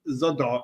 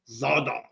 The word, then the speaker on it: Zadar: So, it's not zoda. It's zah. That's how Google pronounce it for both languages. So, you got to give like a little like oomph. Zada, you know, like I'm going to battle z.